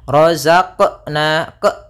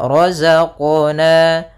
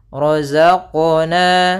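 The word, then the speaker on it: رَزَقْنَا: Kemudian yang kedua dia menambahkan di huruf qalqalanya ada hamzah, misalnya razaqna ke. Nah, itu ada tambahan hamzahnya. Sehingga dia tidak dibaca dengan tambahan hamzah ataupun yang seperti tadi. Maka cara membacanya adalah razaqna razaqna.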